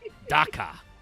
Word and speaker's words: Ducker: They printed the card finally, which is just called as Ducker in all caps in the OCG, which is pronounced Daka.